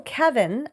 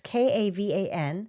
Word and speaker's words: Kavan: So little Kevin, I don't know how you pronounce it. It's Kavan. Yeah. So I'm going to say Kevin.